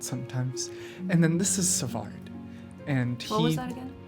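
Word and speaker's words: Svaard: And then this is Savard, and What was that again?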